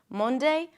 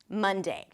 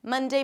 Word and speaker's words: Monday: Monday, Monday. Then you want to say the new pronunciation quite a few times, 30 times even. Monday, Monday, Monday, Monday, Monday.